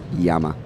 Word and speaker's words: Llama: I believe it's pronounced Yama. It is pronounced Yama. Yama. But we Americanize it.